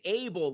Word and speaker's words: Abel: It's Abel like Kane and Abe. So it's Abel.